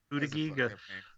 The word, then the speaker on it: Buttigieg: I looked at Buttigieg. Yeah. No, it's Buttigieg. Name. Yeah, it's difficult to pronounce and has an unfortunate beginning, but he's also he had a lot to offer too.